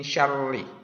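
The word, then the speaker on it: شر: Min syarri. Pelafalan huruf ro itu berbeda dengan huruf R. Kalau R itu getarnya lebih daripada sekali. R pagar. Nah, kalau huruf ro hanya sekali getar.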